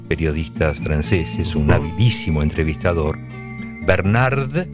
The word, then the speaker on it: Bernard: Bernard, como Bernardo, sin la O, Pivot.